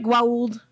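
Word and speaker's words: Goa'uld: the gold but yeah am i saying it right growled uh yeah no that's how they say it on the show it's not like elliot gould okay and then yeah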